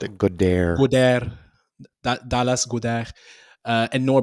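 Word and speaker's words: Goedert: He's weak to actually pronounced a gair. Gdair Dallas God.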